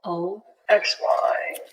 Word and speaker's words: Oxy: Starts with a O O X Y O X Y. Yeah. Oxy. It sounds like your word oxymoron, but it's not the same.